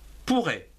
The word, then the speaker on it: pourraient: Pourrait. C'est quelque chose qui est possible. Donc pourrait, P-O-U-R, pour, R-A-I-E-N-T. Ici aussi, on ne prononce pas E-N-T. Pourrait, une syllabe avec pour, et R-A-I-E-N-T se prononce RAI.